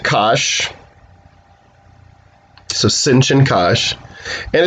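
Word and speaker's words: cosh: that magenta one there you just pronounce it kash so sinchen kash and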